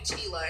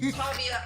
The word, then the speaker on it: Tavia: I almost called you Tila and I knew that was wrong. No, it's Tavia.